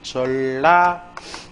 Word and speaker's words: 전라남도: 그렇다면 일단 표준발음이 전라남도예요. 그럼 여기서 뭐예요? 리을 일이니까 LL로 그죠? JE, JEO, LL 이렇게 A.